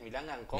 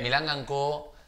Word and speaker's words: Milanga & Co: ¿Es Milangan Company? Milanga, Porque... Milanga & Co.